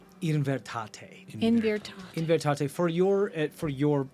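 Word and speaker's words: Invertaté: The Ivertot? Invertate. In Virtat. Invertate. For your helpful to know how to spell it, because I was looking through Noel's notes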